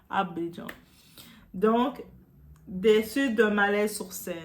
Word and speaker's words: Abidjan: Ah my god, comment on le prononce? Abidjan.